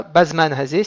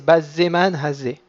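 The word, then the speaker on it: בזמן הזה: C'est pas bazman hazé, c'est bazzeman hazé. Donc il faut ralentir sur le zaïn parce qu'il porte un dagesh.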